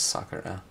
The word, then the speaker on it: Sakura: company was called sakura used to pronounce it Sakura but I think it's sucker huh and that means cherry